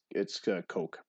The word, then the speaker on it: Koch: If you're going by the gun, Heckler and Koch, they pronounce it Heckler and Koch. But yeah, I guess it could be Cook, could be Koch. But according to the Bull League press guide, it's Coke.